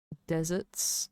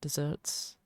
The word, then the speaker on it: deserts: Snowflakes blankets old deserts, not desserts. Um cuz well, at least here it's spelled in the lyrics as d e s e r t s. They aren't talking about desserts or cake. So, that is a double s dessert.